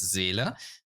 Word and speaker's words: Seele: it's basically the Seele problem, or as a German, I can pronounce it correctly. It's Seele, But basically, as soon as another character comes out, your DPS will be replaced.